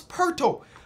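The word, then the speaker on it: Poeltl: it to jacob perto people say it rhymes with turtles so it's perto um one of the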